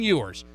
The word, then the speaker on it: Ewers: texas quarterback quinn ewers let's say it right quinn yours he quit high school